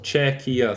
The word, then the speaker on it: Czechia: that country czechia and I guess it's czechia three syllables Czech Republic some czechia